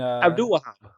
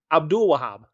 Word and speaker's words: Abdul Wahab: hope he's listening to and Abdul wahap well let's say it again Abdul Wahab yeah that's it I think that's right I'm